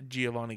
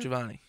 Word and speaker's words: Giovanni: you guys want to get a hold of Giovani GNA your uh say my name properly Corner no the first name Corner Giovani Giovani nope you've known me for how long you gavan no javanni no what say say it again